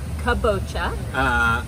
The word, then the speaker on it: kabocha: Kabocha. Not kombucha, but different kabocha.